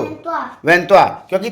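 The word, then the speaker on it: trois: वहां दो वन दो त्वा वन त्वा क्योंकि थ्री को त्वा बोला जाता है टी ए डब्लू एच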